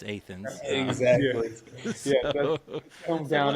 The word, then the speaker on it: Athens: Same when you're traveling into Lexington, going down Athens, Boonesboro Road, not Athens, Athens.